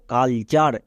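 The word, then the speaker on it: culture: জন্য আ হলো next T ইউ আর ই এর উচ্চারণ হয় চার এটা একটা ওয়ার্ড প্যাটার্ন একে কেউ ভুল করে আবার বানান করতে যেও না তাহলে পুরোটা উচ্চারণ কি দাঁড়ালো কালচার এখানে দেখো ইউ এর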